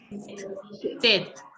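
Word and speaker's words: tête: So how do you pronounce head? Head. Tet. Devishri, can you pronounce tet? Tet. Very good. Tet. Tap codes, can you pronounce tet?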